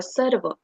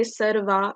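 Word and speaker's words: सर्व: So as we can see, S and A, they are not surrounded by any marks, so they will be pronounced as sir, and A will be pronounced as the short vowel, that is a server. So if we say sarva, it will be wrong because as we can see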